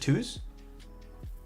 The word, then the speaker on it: Tuzi: Tuzi's a rabbit in Chinese. You technically don't pronounce the I. Oh, really? Just 2s?